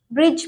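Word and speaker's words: bridge: इसमें भी हमने डी को नहीं पढ़ा है क्योंकि जी आ रहा है डी के बाद, इसलिए हम ब्रिज पढ़ेंगे।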